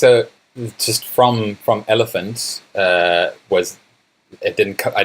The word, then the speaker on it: ELPHNT: really good and that website is elephant which is spelt ELPH NT there's echo dot C oh yeah that's coz a which is the South African domain okay so yeah it's like elephant without the second E or the a it's